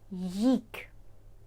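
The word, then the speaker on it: gick: минулий закінчений звичайний час їк без г на початку не вимовляємо г їк їк минулий Незакінчений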